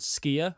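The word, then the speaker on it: skyr: which is icelandic yogurt it's called skier and it's spelt the same as ski gamor so i guess skier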